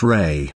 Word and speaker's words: Ra: of an ancient god called Rah pronounced Ray in Egyptian mythology Rah